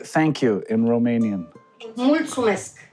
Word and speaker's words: Mulțumesc: Mulțumesc. Mulțumesc.